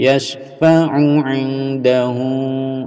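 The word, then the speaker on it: يشفع عنده: ' Yasfauahu', 'yasfau', huruf 'u' dipendekkan, 'yas'. Jadi, langsung menuju ke 'yasfaahu '. Ini adalah 'ain', 'ain', ' yasfaahu'.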